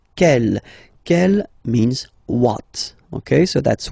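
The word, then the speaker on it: quelle: And then the feminine form is written like that. C L, but it's pronounced like the masculine form. K at the masculine, kel at the feminine. Okay. So it's basically same pronunciation.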